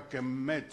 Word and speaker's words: Kemet: Donc, on ne dit pas Kemet avec deux M, on dit Kemet avec un seul M.